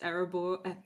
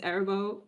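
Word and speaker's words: Arahbo: It's Arabo. Wow, look at me mispronouncing my favorite deck. It's Arabo, Roar of the World.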